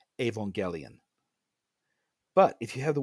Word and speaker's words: Evangelion: The name of the title is in Japanese. Go and look at how you spell Evangelion in Japanese. Put it into any translator program. I don't care which. Put it in there and play it, and it will say Evangelion.